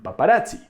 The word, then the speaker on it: paparazzi: in the original language And so we say pizza and paparazzi in these words Doble Z sounds like TS Because this sound is